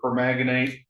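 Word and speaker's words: permanganate: Um you know, as far as changing the the the entry points of the permaganate, is that how you pronounce it?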